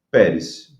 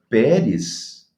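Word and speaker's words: Peres: Então, ele usa a palavra Pérez, que é o singular de Parsim, e a pronúncia da palavra Pérez soa como Pérsia em aramaico.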